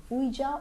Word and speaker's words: Ouija: The last of the list is Ouija or Ouija, however you want to pronounce it.